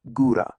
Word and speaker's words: góra: This O, with a little accent over it, it's pronounced exactly like the regular Polish U. It's just that U sound, like in boot. So góra is simply góra.